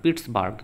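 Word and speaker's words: Pittsburgh: পিটসবার্গ এরকম উচ্চারণ হয় বাংলাতে বুর্গ লিখে দিয়েছে বার্গ হয় পিটসবার্গ উচ্চারণটা হয় তো এটা হবে জামশেদপুর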